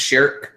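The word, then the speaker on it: Schierke: sh sh because I've heard it pronounced just Sherk not with the K just Sherk uh sh K and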